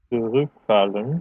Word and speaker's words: zurückfallen: Zurückfallen has it here on the additional part.